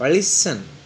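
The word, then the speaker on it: listen: लिसन, अब लिस्टन लिखा होता है, टी इज the silent on लिसन।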